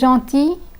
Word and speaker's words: gentil: real is pronounced but the L in gentil is silent I will again repeat